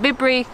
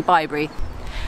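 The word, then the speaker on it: Bibury: Cotswolds as some people pointed out I was pronouncing it be brief completely wrong is actually by Barry the River Severn runs through the centre of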